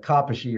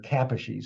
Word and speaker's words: Kaposi: I think every single one of their words is emphasis, the accents on the first syllable. So that's why you call it Kaposi or Kaposi sarcoma.